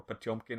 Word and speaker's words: Potemkin: Have y'all seen the film Battleship Potemkin, or Potemkin if you're pronouncing it in the Russian way?